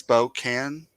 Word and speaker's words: Spokane: um spoken Spokan Spokan uh um put your pronunciation under here yes Spokan that's what I've been saying by the way